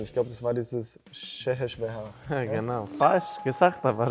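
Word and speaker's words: Székesfehérvár: Ich habe aber, irgendwie haben wir mal drüber geredet und ich glaube, das war dieses Şehirşehir. Ja, genau. Falsch gesagt, aber richtig. Wie spricht man es richtig aus? Şehirşehir.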